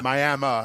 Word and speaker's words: Miami: Miami is how they pronounce it up there.